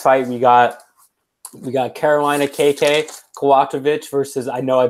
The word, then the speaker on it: Kowalkiewicz: So next fight we got Carolina KK Kowalkiewicz versus, I know I butchered that last name. Versus how do you pronounce it? Kowalkiewicz.